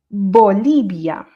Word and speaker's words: Bolivia: Du coup, le deuxième il est moins fort mais ça se prononce pareil. Bolibia Bia Bia Bolibia. OK. Donc vous voyez, je j'agrondis un petit peu. Donc Bolibia Bolibia.